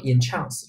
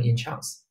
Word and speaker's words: entrance: 叫做这个迷住着迷啊。Entrance 读成 enchance，注意动词读成 enchance 啊，吸引进